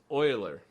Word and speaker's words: Euler: physicist at math yeah how would you say that Euler e EU le le all right his official name was Euler that's the proper pronunciation oh no is it